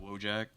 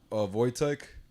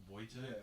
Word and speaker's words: Wojtek: Is it Wojak? Oh, Wojtek. Wojtek? It's like spelled like Woj Yeah, Tech.